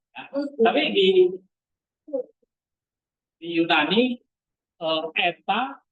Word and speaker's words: eta: Tapi di di Yunani ee eta itu bacanya bukan e tapi e panjang e e e epil e e itu agak panjang maka transitinya e terus